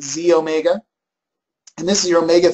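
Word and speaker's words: xEO Mega: middle one is the it says XE Omega okay but we pronounce it Z Omega and this is your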